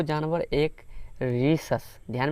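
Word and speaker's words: Rhesus: उस मंकी का नाम किससे शुरू होता था, RH अर्थात रीसस। ध्यान रखिएगा उसका नाम क्या था, रीसस। तो यहाँ पे H साइलेंट है, तो इसका रीसस जो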